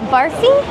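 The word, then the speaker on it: barfi: Rose Bary Rose how do you say that barfy barfy uh the chocolate barfy thank you thank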